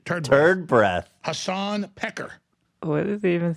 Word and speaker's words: Piker: Hasan Piker. What is he even saying? Pecker. Oh, he called him Pecker, but it's obviously Piker.